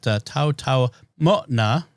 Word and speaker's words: Taotaomo'na: The apostrophe is a glottal stop there, so it Taotaomo'na. Although it's not always pronounced.